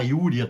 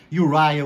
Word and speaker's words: Uriah: Urias de origem Hebraica então se você quiser traduzir e falar yuria também to jeito que você preferir tá yuria ou yuria pouco importa o que importa que